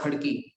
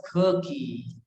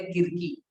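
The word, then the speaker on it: Khadki: खड़की, ठीक है, तो खड़की को वो लोग कभी भी खड़की नहीं बोल पाते थे, they used to pronounce it एज ख की, ख की।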